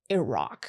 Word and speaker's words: Iraq: So I now when I do like stand up and talk about it, I have to focus on saying Iraq, which sounds so awkward.